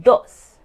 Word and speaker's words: dos: Number two is dos. Dos.